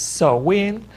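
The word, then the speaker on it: Samhain: festival that is spelled as SEM hain but pronounced is so win just like Sam yes and it means summer's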